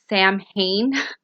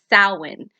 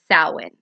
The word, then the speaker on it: Samhain: Now, I know that Samhain looks like the way it's spelled looks like it says it would be pronounced as Samhain, but it's not. It's Samhain.